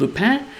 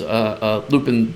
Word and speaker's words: Lupin: And the other thing also you'll notice is I prefer the French pronunciation of Lupin. You will hear in the game Lupin a lot. I believe also when there's a Japanese series called Lupin the Third, and I believe that in the English translation they also went with the Lupin pronunciation.